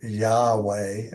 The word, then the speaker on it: Yahweh: is spelled jhvh uh conventionally pronounced Jehovah or Yahweh or y um but